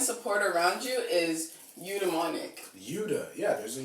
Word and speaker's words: eudaimonic: It's eudaimonic.